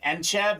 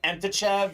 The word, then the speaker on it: Entchev: names in this break my name is enchev they call me entachev so I'm used to it I bet your